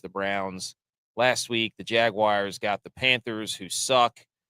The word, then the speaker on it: Jaguars: Jaguars. Say it like that. Wars, not wires. Jaguars. Jaguars.